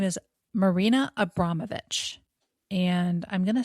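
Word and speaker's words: Abramović: Her name is Marina Abramovich, and I'm going to spell her last name because you're going to need to go look some of this stuff up.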